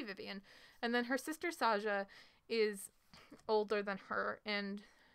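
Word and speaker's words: Saga: So yes, it's pronounced Saja, even though her name is written S-A-G-A. It's Portuguese. It sounds like a J sound. So it's Saja.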